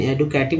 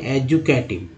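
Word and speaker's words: educative: तो यहाँ पर एडू एडू नहीं होगा क्योंकि यहाँ डी को यहाँ ज बोला जाता है, तो एडुकेशन तो होता है लेकिन एडुकेटिव नहीं, एजुकेटिव। ठीक है, उच्चारण में यह आ जाएगा, डी को ज यहाँ उच्चारण हो गया, एजुकेटिव हो जाएगा।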